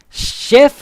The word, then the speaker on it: chef: Listen to the pronunciation. Chef. Chief. Chef. Like chef. Chief. Like the CH is longer, like chef. But like an SH.